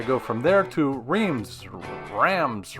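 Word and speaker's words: Reims: wrong cross spelled r-e-i-m-s we would pronounce it Reams but that's not even close to correct behind me is the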